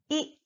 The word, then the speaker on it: い: very short sound ah the second sound is e like e in the word King he it is not pronounced I like I in the word hind so it is e e not I short sound e e the third sound is